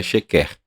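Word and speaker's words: שקר: Na língua do Velho Testamento, na língua hebraica, a pronúncia é sheker.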